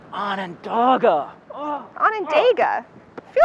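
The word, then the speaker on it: Onondaga: court advantage but let's see if you can pronounce these words ready Ananda Ananda Ananda yes baheim bohim close bohim closer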